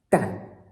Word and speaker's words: 旦: Fourth tone, dan, which is pretty easy.